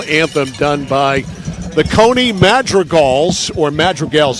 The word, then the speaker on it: madrigal: done by the cony madreal or madreal I'm not sure how they pronounce it up here in the booth a I think it's Madrigal Madrigal okay thank you AJ musical term I believe Madrigal okay I'm I'm out